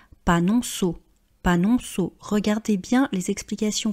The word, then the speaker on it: panonceau: panonceau, panonceau, vous voyez qu'on ne dit pas panonko on dit panonceau, panonceau.